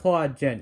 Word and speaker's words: Hua Jun: It's spelled Hua Jun, but it's pronounced Hua Jin in the film.